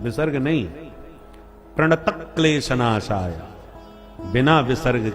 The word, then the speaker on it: प्रणत क्लेश नाशाय: तो क्योंकि आधे क्लेश शब्द है इसलिए प्रणत क्लेश नाशाय बोला जाता है। प्रणत क्लेश विसर्ग नहीं।